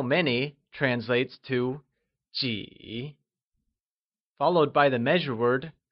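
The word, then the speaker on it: 几: How many or a few translates to jǐ, which is said using a falling, rising tone.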